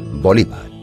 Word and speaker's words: Bolívar: en algunos países europeos su apellido se acentúa en la segunda sílaba bolívar en el año 1820